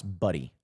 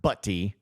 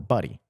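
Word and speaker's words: Butty: the University of Arkansas they give a pronunciation where it's like pronounce buddy it's like yeah I kind of figured not buty it's more buddy but still he's going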